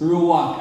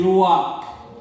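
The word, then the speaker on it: רוח: what ang word ng spirit sa Hebrew means ruak everybody say ruak ruak which means breath okay pero ang pag-pronounce anang rak it's mangak no rak ang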